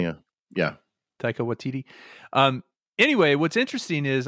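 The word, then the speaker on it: Taika Waititi: has rise Derby as Bonnet and Tak uh taica watiti as Blackbeard yeah oh yeah I like him you know who that guy is saying it right yeah yeah Tao watiti um anyway what's interesting is I started watching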